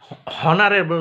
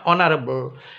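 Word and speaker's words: honourable: ঠিক আছে, আর অনুচ্চারিত এইচ দিয়ে দেখো অ্যান আওয়ার, হাওয়ার নয় কিন্তু অ্যান আওয়ার, হনারেবল নয় অনারেবল, অ্যান ওটেল।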